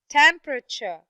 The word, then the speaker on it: temperature: third okay now the word temperature temperature yes although it was a long word and it has three syllables but the first syllable is the only syllable that is stressed very good how about